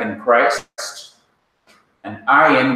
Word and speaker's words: ayin: And ayin, which has no equivalent pronunciation in English. It could have, but it is better to really learn it as being silent, like aleph.